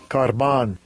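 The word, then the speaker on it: korban: This is how they pronounce it. Strong's G 2878. Karban.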